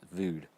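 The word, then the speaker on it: Vogd: it's by Peter vood and that's spelled v o g d right I think you pronounced it vood you'll find it on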